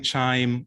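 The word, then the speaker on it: QIIME: are we actually using chime um to analyze 16 as amplicon data because you know there's a lot of other ways to do it um so first of all it's pronounced like wind chime so that's when the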